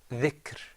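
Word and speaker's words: ذِكْر: Dhikr.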